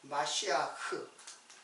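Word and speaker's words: משיח: 메시아요 메시아 자 그러면 메시아는 이제 그 히브리 발음으로는 마 마 마시아 흐 이렇게 돼요 마쉬아흐 근데이 우리말로는 이게 미시라 이게 편하게 쓴 것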